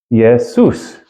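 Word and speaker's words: Ἰησοῦς: it's at the beginning if it's at the beginning of a it's at the beginning of a word followed by a vow so here's AA okay so it's ye yesus and and if you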